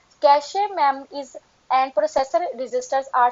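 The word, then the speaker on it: cache: क्या मतलब है इसका, कैश मेमोरी, इसको प्रोनाउंस किया जाता है कैश मेमोरी के साथ।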